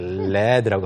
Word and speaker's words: lead: 그리고 또 이것을 과거형이 아니고 명사로 읽었을 때 lead 똑같이 쓰는데 led라고 하면은 납이에요.